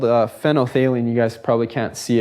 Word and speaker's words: phenolphthalein: phenolphthalein with me, because when you see it written, there's like a PH, ENO, PH, HALEIN. It's kind of a really weird word. And when students first say it, they never say it right. So for all I know, I could be saying it wrong, but phenolphthalein is what it's called.